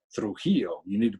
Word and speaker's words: Trujillo: joining us live in Las Cruces is Trujillo," and she said something like that, and I'd never heard my name pronounced like that.